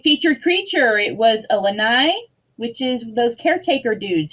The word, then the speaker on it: lanai: perfect uh wednesday featured creature it was a lanai which is those caretaker dudes who took care of luke skywalker's mess on that island isn't the lanai also like a porch or a like a